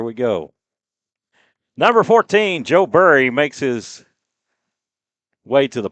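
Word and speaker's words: Buri: Number 14, Joe Burry makes his way to the plate. And I want to make, is it, I say Burry, and it's spelled B-U-R-I, like Barry, like you bury somebody.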